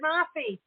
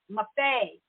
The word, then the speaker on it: Maffei: go to Elizabeth Gifford Maffei. Now, I know she told me Maffei. Yeah, you did it. Yay. Rhyme with buffet. I knew it rhymed with something, and I kept thinking, what does it rhyme with?